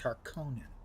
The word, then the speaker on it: Harkonnen: Which evidently from recordings of Frank Herbert, he actually pronounced Harkonnen. That's how I used to pronounce it.